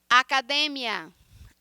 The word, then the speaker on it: academia: Academia. Como é que a gente pronuncia em português? Academia. Então, a sílaba tônica em português é a última sílaba e a penúltima sílaba em espanhol, academia.